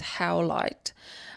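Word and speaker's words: howlite: Um, so if you want to look it up, it's spelled H O W L I T E if I'm not mistaken. How light. And like the word says as well, how light.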